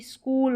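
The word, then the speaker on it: school: है एस सी एच, इसको स्क पढ़ना है। क्या पढ़ना है? स्क। जैसे देखिए ये रहा स्क, और ये जो डबल ओ है ना, इसको बड़े ओ की जो मात्रा रहती है वो इसका उच्चारण होगा, तो ये स्कूल हो गया।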